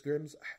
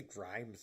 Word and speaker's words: Grimm's: It's Grimm's. I always want to say Grimes for some reason.